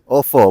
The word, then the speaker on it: Ofo: Ofo.